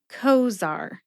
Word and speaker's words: Cozaar: Cozaar only has 2 syllables. Co like coworker and zar like a high-level official.